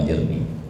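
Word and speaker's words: أجرني: mengucapkan perkataan demikian, Allahumma ajirni minan nar, biasanya dijamain Allahumma ajirna minan nar gitu. Silakan saja itu nah. Tapi resmi bacanya Allahumma ajirni.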